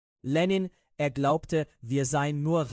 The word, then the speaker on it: Lenin: Ich schätze Lenin. Ich benutze die russische Aussprache. Lenin, er glaubte, wir seien nur Reizreaktionsmechanismen.